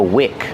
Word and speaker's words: wick: Use the short is sound like this. Is this is the wick of the candle. I I wick. Not weak. With a long e like green beans.